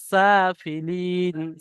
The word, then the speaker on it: سافلين: তারপরে সুম্মা রাদাদনাহু আসফালা সাফিলিন, সা এটা সিন আছে, আপনার উচ্চারণটা সার মতো হয়ে যাচ্ছে, সিন খালা যাবার সা, সুম্মা রাদাদনাহু আসফালা সাফিলিন, সাফিলিন।